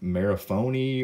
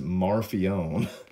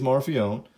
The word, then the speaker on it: Marfione: think at one point I was saying like Mara Mara phony or Mara phone or whatever I said it is Murphy own so I can't remember how badly I butchered the name but it is morphe own I've been told so let me you